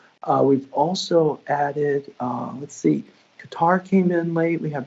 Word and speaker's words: Qatar: Sorry, Qatar is ready. That's how you say it correctly, my bad.